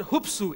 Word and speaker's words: hupsu: The second word, which makes up the compound verb, is the word hupsu, H-U-P-S-W, sorry, S-O-O, which means to lift or raise up.